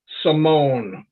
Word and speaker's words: Simone: And it's pronounced Simone, Chris, Simone.